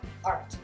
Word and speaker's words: art: La seule différence, si je retiens la règle que la terminaison se prononce, c'est que ça se prononcera art. Et de la même façon que format, je prononce R et j'arrondis ma langue vers le haut du palais, et bien je fais pareil pour le art.